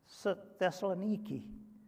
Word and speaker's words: Thessaloniki: the alphabet is niki we would call it nike but it's pronounced nikki and today it has